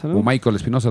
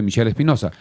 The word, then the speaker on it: Michel Espinoza: Espinoza Michel Espinoza árbitro Michael Espinoza también que algunos lo pronuncian se escribe Michel Espinoza luego a las 3